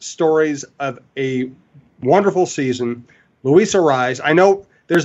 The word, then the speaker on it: Luis: in the big leagues Louisa is that is is I think the way they pronounce it in Venezuela and Louisa is is